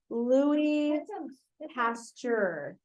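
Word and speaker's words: Louis Pasteur: no only week nine Lou pasture is how you say his name he's French all right so get out get out all of week nine l p so in French because this is a french guy it's not Louis it's Lou Lou two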